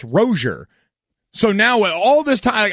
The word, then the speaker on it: Rosier: Rozier from last year actually says his name is pronounced rosier so now all this